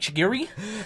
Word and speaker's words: Chigiri: Before you lose that, I've never heard you pronounce something so white in my life. Shigiri? Yeah, that almost sounds like you could pronounce that in Spanish, and he's like, Chigiri?